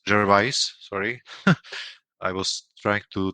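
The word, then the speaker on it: Gervais: the main character is played by uh Ricky Jerves. Jervise, sorry, I was trying to train how to pronounce it.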